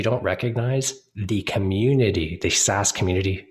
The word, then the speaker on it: SaaS: But software as a service, we most typically say SaaS. Take the acronym, pronounce it out.